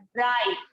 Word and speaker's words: bright: GHT, अच्छा GHT को क्या पढ़ेंगे बताइए? हमने आपको बताया था GH को साथ में क्या पढ़, घ, है ना, GH मतलब क्या था? घ। लेकिन हमने इसको साइलेंट किया है तो यहाँ पर सिर्फ टी को पढ़ा जा रहा है, ब्राइट।